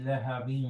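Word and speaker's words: لهب: Tabbat yada abi lahabin wa tab. Lahabin, make it longer. The merging, yeah.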